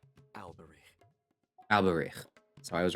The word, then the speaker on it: Alberich: Tell me, How did they what do you pronounce know it? about the significance of that name, Alberich? Alberich.